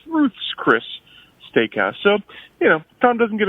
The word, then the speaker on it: Ruth's Chris: I believe you said it was Ruth Chris, but it's actually Ruth's Chris Steakhouse. It's the possessive, as if it's Ruth's Chris, not James Chris. It's Ruth's Chris Steakhouse.